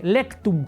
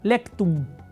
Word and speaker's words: lectum: Y la última está igual como se oye, lectum, con C, lectum. Y M de mamá al final, lectum.